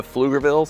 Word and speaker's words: Pflugerville: There's like they really play up the the Flugerville. So, you've probably already noticed Flugerville is spelled with a a PF.